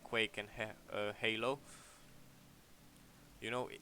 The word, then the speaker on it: Halo: more like quake and halo you know in my country just pronounce it hollow so yeah so yeah